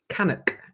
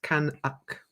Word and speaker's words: Canuck: Canuck is how you pronounce it. Canuck.